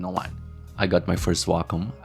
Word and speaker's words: Wacom: I got my first Wacom. I believe that's how you say its name in English, Wacom. And I could finally draw on my computer, which was nice.